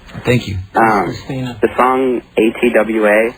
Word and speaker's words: ATWA: The song ATWA, how do you pronounce it?